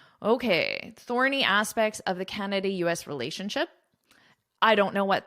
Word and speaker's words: Canada: So a lot of students will put the stress on the wrong syllable or they won't put any stress on it. So it's Canada. It's not Canada.